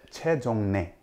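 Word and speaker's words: 최정례: It's Choi Jeongrye.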